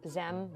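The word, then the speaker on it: xem: X not a z it's pronounced ZEM with an X what does that feel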